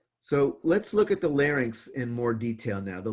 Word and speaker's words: larynx: sure you don't get that confused it's not Larne X it's like larynx drawn a bad version of it so first